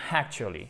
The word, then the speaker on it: actually: Donc pour nous, c'est tentant de faire actually.